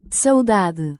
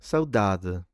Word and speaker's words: saudade: I've just said it in a terribly British way, but it's a Portuguese word pronounced like this in Portugal. Oh, let's see. Let's see. saudade And saudade this in Brazil.